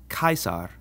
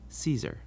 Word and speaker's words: Caesar: CH sound, ch, but our classical pronunciation always has the C sound like a K. So this name is pronounced Caesar, not Caesar.